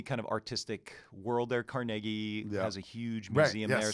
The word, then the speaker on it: Carnegie: seeing but like and you said it right by the way people it's carnegie carnegie yeah people go carnegie carnegie it's carnegie yeah he uh so that